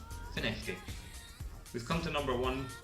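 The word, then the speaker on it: Findochty: from, and it's F-I-N-D-O-C-H-T-Y, and it's pronounced Finechty. Don't ask me why, but it is Finechty.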